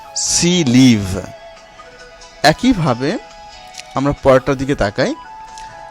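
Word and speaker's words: six livres: Consonant দিয়ে শুরু হয় তাহলে এই ইক্সের কোনো উচ্চারণ হবে না। যেমন সি, লিভ।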